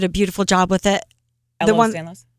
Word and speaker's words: Ehlers-Danlos: Or the other one that I always pronounce incorrectly, but you did a beautiful job with it. Ehlers-Danlos? Say it again. Ehlers-Danlos syndrome?